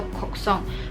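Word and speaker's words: 곡성: 韩国古城，然后在韩文读音里面，古城和哭声是一样的，叫做 Koksong，所以就有一语双关。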